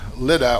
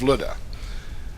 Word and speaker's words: Lydda: Right before the story from today, we find Peter in Lydda, or Luda as it's pronounced in Greek, and he heals a paralyzed man there in Lydda.